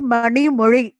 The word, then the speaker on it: Mani Mori: One more thing, my name is Mani Mori, not Mani Mosi and all, but if people don't able to pronounce, they call Mani only.